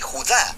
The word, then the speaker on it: Judá: Judas, o más precisamente Judá, de acuerdo con la pronunciación de su nombre tanto en griego como en hebreo.